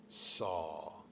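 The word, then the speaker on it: Sau: And with the exhale, saw. It sounds like saw, like S-A-W, but we spell it S-A-U.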